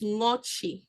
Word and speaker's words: Ngoche: And Ngoche is properly pronounced Ngochi, and it just means pierce through water.